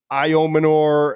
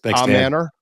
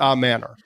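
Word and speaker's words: Ayomanor: we just looked up like the way he pronounced it it's ellic is his first name we all know that I've heard IO Manor a Manor I've heard all a Manor but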